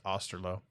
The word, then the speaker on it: Osterloh: Rick Osterloh, I always say his name wrong. I'm pretty sure it's Osterloh.